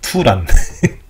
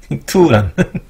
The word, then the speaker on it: 투란: 이거 티파가 아니라 투란이라고 읽어야 돼요. 투란 투란 티파라고 했어요. 무식하게.